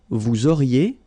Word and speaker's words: vous auriez: Vous auriez, liaison here, and then EZ will go like E.